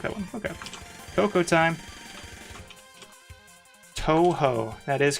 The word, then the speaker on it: Toho: I think I had pronounced... Oh my god, I don't even remember what I pronounced it as, but I definitely pronounced Toho incorrectly until like a year ago.